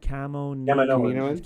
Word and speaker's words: Kaminoans: Kaminoans.